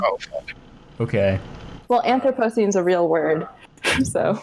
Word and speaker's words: Anthropocene: It's Anthropocene. I googled it because I didn't know. Anthropocene. Oh, fuck. Okay. Well, Anthropocene's a real word, so I'm sure it is.